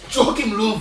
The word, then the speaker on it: Joachim Löw: Joachim Löw, that's how you say it.